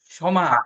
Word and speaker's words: ক্ষমা: পাদ স্পর্শং, পাদ স্পর্শং, ক্ষমস্বমে, আমরা ক্ষমা বলি না, ক্ষমা করে দিলাম, সমা, এটাকে বলা হয় সমা।